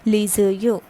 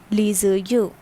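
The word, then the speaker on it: les yeux: in my videos that whenever there is a vowel in the starting at the second word and there is a consonant at the ending of the first word so this consonant and this vowel produce a connecting sound and it becomes laser you laser you okay next is le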